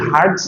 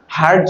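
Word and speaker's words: hertz: এরকম এইচই আর পিজেড এটার উচ্চারণ কি হারজ না হার্টস হচ্ছে একটা সাইন্টিস্টের নাম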